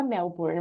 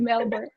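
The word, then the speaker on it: Melbourne: né Eu não sei eu falava melbourn mas tá errado né porque você fala você come é uma coisa que é eles pronunciam diferente é bem você pode falar como você quiser não não tem problema nenhum Sabe eles vão entender é mas americanizado mesmo tio melbor e tá certo não tem não tá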